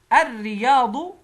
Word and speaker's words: الرياض: الرياض. ماذا فعلنا؟ اللام شمسية أضغمت في الراء، فلما دخلت اللام في الراء بقت اللام راء، يبقى اللام لا تنطق عشان شمسية.